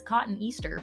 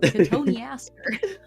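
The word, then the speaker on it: cotoneaster: four um o Catherine's been turned into a katoni Aster which looks like it says cotton Easter but it's pronounced Katon Aster no I think a cotton Easter plant is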